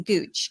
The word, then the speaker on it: Gooch: And then Gooch, kind of like, no, it's not like Gucci.